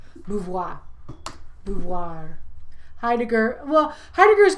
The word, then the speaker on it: Beauvoir: Let me spell it. B-E-A-U-V-O-I-R. Beauvoir.